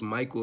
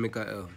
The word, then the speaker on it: Mikael: Because the name Michael, it's pronounced Michael in regular English, though it's correlated obviously to the Torah, you know, Archangel Mikael. So, big up to my brethren Mikael.